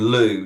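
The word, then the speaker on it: Lugh: Um, you get names like uh like in Lou, you know, the Irish form is spelled L U G H.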